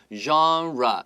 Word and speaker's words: genre: 没错，在里面有几个很重要的字汇 genre 这个字的话，其实来自于法文，它的意思就是指类别的意思。尤其提到文学类型或是电影类型，都会用到 genre 这个字。genre 这个字的发音要特别小心，genre 它的话是 gen 发日 genre，然后呢 re 的话念 genre